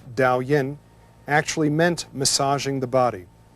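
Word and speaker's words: Daoyin: for Qigong in the ancient classics a word pronounced Dao Yin actually meant massaging the body when we practice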